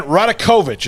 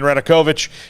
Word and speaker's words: Radakovich: way before we get to that uh dan radekovich is how you say his name dan radakovich uh is um about to be officially on